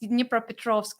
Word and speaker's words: Dnipropetrovsk: So, oh my gosh, and like you pronounced Dnipropetrovsk, like you've been there, you understand how to pronounce it correctly.